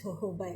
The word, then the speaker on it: jojoba: Some people call it jojoba, some people call it jojoba, but then the real pronunciation is jojoba actually.